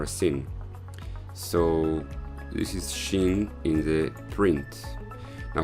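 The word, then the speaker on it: שׁ: like e like this so this is shin and also here you put the dot on the right side when you have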